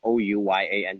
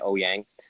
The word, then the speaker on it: Ouyang: stage as Jimmy Ouyang, Ouyang, Ouyang. But nobody can pronounce it. It's 4 vowels Right. together, Ouya.